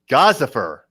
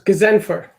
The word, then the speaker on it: Ghazenfer: Ghazenfer. You're close. Ghazenfer.